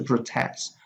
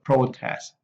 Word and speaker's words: protest: contrast the permit the protest the process so we for the noun the stress is on the first level but the verb is uh on the second syllable we also have the